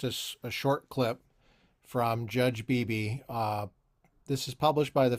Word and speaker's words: Bybee: His last name is Bybee, I think. I think it's pronounced Beebe, but he's a Mormon,